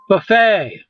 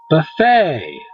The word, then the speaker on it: buffet: okay okay marshay um buffet buffet it's a french word that's why you don't pronounce the t uh spaghetti pasta fettuccine